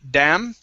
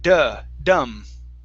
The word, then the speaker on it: dumb: You had said damn. It sounded like you said damn. Okay, but it's dumb. Dumb.